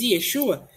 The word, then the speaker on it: Yeshua: Dias sua que é a pronúncia correta do nome do Messias Yeshua e você vai conversar isso